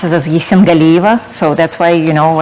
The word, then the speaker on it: Yessengaliyeva: white thank thanks so much thank you very much just my last name pronounced as a Z symbol Eva so that's why you know I'm going by